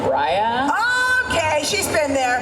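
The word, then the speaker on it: Raya: to try to um it's pronounced Ria okay she's been there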